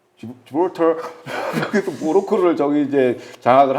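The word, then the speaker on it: 지브롤터: 발음을 잘하세요. 예. 예, 지브랄티. 예. 지브랄터 그래서 모로코를 저기 이제 장악을 한 건데 저기를 이제 그래서 이스라엘이 거점으로 활용하고 있고요.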